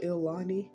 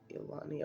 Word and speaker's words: ilani: Casino the um illan I used to call it ilani because the way it's spelled like i l a n i but then I heard from people who gamble all the time um they call it they said it was called elani or IL yeah that's